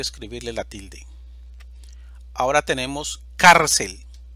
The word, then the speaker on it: cárcel: la tilde ahora tenemos cárcel división silábica cel sílaba tónica car termina en una consonante